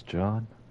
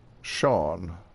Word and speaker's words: Shawn: Did you say your name was John? Shawn. Sean. S A W N. There's many ways to spell that name.